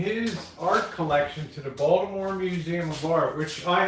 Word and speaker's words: Baltimore: Baltimore's a lazy accent, right? We usually drop the middle syllable. Instead of saying Baltimore, we just call it Balmer.